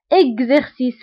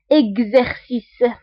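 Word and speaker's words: exercice: ليكزامبل الثالث اكزيرسيس، فهنا ايضا اكس قريتها بكز، كز لانه قبل منها او بعد منها او، دونك قريناها بكز. وقلنا غالبا فاش كتكون اكس قبل منها او وبعد منها او فكنقراوها بكز، اكزيرسيس.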